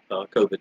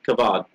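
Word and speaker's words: כבוד: The Hebrew word, yukavad, it's funny, you also could pronounce it COVID, but kavod.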